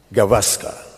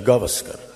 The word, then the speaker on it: Gavaskar: Foreign English-tongued cricket commentators say Gavaskar for Sunil, when this is actually Gavaskar.